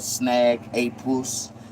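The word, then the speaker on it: Snagapuss: Snag a puss. Like, I want you to say it in three in three syllables.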